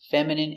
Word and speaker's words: feminine: Words ending in ine can have different pronunciations. All of these have the sound in. Imagine, examine, engine, discipline, feminine, and masculine.